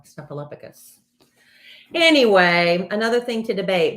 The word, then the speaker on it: Snuffleupagus: we find out parallel it's like Snuffaluffagus it's Snuffaluffagus it's Snuffleupagus Snuffaluffagus no Snuffleupagus anyway another thing to